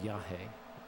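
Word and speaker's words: yajé: form of Iawaska um is called Yah, which is spelled Y AJ E with an accent over the E. Yah.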